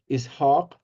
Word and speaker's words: Ishaq: is very, very close, just as that long I sound at the beginning, Ishaq.